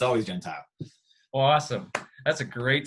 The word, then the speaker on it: Gentile: Yeah, you actually said the correct Italian pronunciation too, Gentile. It's Gentile here in America, but I think it's truly Gentile.